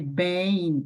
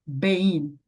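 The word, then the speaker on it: בין: será o quê mudo por esse motivo aqui eu eu pronunciei Ben e não bein tá bom Ben entre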